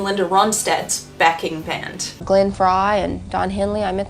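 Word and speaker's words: Frey: to be in Linda Rad's backing band Glenn Fry and Don Henley I met them at the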